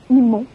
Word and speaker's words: emo: présentement, c'est le look emo. C'est quoi ça? Alors, Caroline est plus emo, mais quand même une inspiration qu'on recommence. Emo, ça s'écrit E-M-O, la prononciation anglophone.